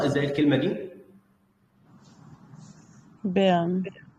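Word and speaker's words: Bern: بيرن. بيرن. بننطق الار خفيفة. ما بيبقاش عندنا ضمير قوي واحنا بننطق الار وهي في اخر المقطع، بخاصه لو كانت في اخر الكلمه او حتى لو وراها ساكن او ساكنين مش مشكله.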